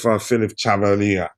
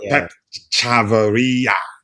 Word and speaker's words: Pep Chavarria: All right, Dante, you want to speak about Chelsea's pursuit of Philip Chavarria? Not Philip. What's his name? Yeah, Pep Chavarria. That's how you pronounce yeah.